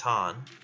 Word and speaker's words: Khan: You know, I'm such a fucking Genghis Khan fanboy, or Genghis Han, as I believe it's actually pronounced.